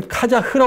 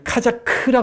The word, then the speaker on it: 카자크: 좀 정리할 필요가 있는데 카자크 여기 카자흐 번역도 있죠네 카자크 읽어야 됩니다 이게예요 K 코자크 카자